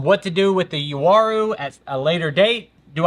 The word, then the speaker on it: Uaru: I've got a Uaru, U-A-R-U. Some people say it like Waru, like it starts with a W, but I think it's Uaru.